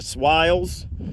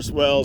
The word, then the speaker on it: swale: They're not actually pronounced swales in Australia. They're swales. And I'm fine doing swales or swells. Both of them work.